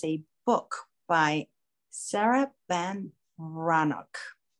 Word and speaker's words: Breathnach: The first thing that was given to me was a book by Sarah Van Brannock. It's spelled Breathnach, Breathnach.